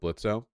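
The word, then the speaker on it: Blitzø: The O is silent, you fuck.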